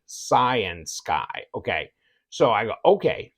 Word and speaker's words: Cyansky: was trying to figure out how do I pronounce the name and they were all saying cyan Sky okay so I go okay Science Guy um